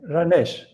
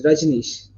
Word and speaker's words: Rajnish: Ranesh. It's Rajnish.